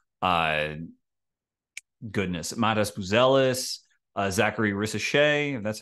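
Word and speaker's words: Risacher: nicoa toic and uh goodness Matas buellis Zachary risse that's how you say his name but the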